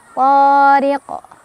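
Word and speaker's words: طارق: Thariq, ri dibaca secara tarqiq karena ada ra berbaris kasrah ditipiskan. Riq, ada qalqalah kubra karena ada huruf qalqalah yang sukunnya karena berhenti. Jadi awalnya si qaf itu ya, huruf qalqalahnya awalnya enggak sukun karena berhenti jadi disukunkan ya. Maka cara baca dari qalqalah kubra adalah dipantulkan. Pantulannya besar ya, lebih berkumandang. Wat-thariq.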